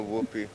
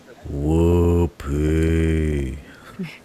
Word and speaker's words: Whoopi: But the way I pronounce her name is Whoopy.